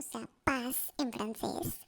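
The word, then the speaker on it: paix: La palabra P, o sea, paz en francés, escribe P A I X, pero se pronuncia P, o sea, como una P E o una letra P.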